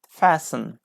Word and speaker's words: fastened: for your correct answers t is a correct letter for number 15 fastened fastened okay fasten great okay